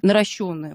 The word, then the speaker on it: наращённые: ресницы какие будут наращённые наращённые Ольга Спасибо вам огромное за то что знаете как это действительно правильно произносить наращённые ресницы петля за петлёй Да